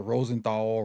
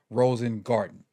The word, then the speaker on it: Rosengarten: the the draft show I kept mispronouncing his name I threw Roger Rosenthal Roger Rosen I I did everything but his right right his right right name but it's Roger Rosen garden and so um let's